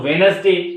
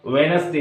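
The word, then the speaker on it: Wednesday: डी खामोश है और वेनसडे में डी खामोश है सैंडविच है तो सैंडविच होगा और हैडक चफ होगा वेनसडे होगा इसमें डी खामोश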